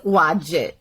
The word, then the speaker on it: Wajd: name correctly maybe I didn't I'm sorry it's wajid what did I apologize I had it spelled phonetically for me and you know just sometimes